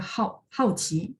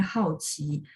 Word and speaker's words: 好奇: hao qi ya, adanya hao qi. Hao qi yang tadi saya bilang penasaran. Jadi dia ada kata-kata tertentu yang dia perlu si hao ini harus baca nada 4 hao.